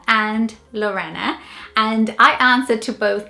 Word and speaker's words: Lorenna: actually my middle name, and it's the name Lorenna.